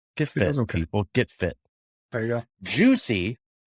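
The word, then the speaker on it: Jucie: fit there you go juicy and i i'm pronouncing that with in my very colorado english dialect juicy j-u-c-i-e by the way when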